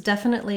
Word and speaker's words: definitely: Both definite and definitely have first syllable stress.